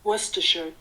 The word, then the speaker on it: Worcestershire: next you're going to add one tablespoon of worcester sauce oh my gosh that way how you pronounce it worcestershire so one tablespoon of worcestershire oh my gosh